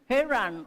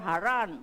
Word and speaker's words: Haran: at Ayun po yung heran or haran or haran So yun po alam niyo po kasi ang pronunciation na nitong mga lugar po sa bible minsan po iba-iba So kung ang marining po ninyong nagsasalita ay from California iba madidinig niyo ay from Texas iba kung maririnig niyo ay